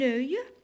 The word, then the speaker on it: œil: Un œil, alors malgré on a O-E-I, mais c'est la même prononciation avec œil.